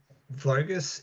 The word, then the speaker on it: Vogus: your name from um vogus is the uh Hungarian that's the name Hungarian pronunciation of my last name which gives me a